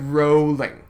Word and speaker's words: Rowling: it's jk rowling jacob it's said rolling not rallying rolling i am american i